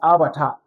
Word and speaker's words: abattoir: Some are saying abattoir. So this word is not pronounced as abattoir, it's abattoir. When we say abattoir means